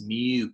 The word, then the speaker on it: mu: a lower case it's called the lower case Mew character so it's a and it's pronounced Emme WMU but it kind of looks